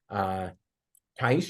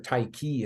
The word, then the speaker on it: Taiki: And as you do that, sometimes you get lucky and hit something like Taish, or Taiki is actually how you pronounce it.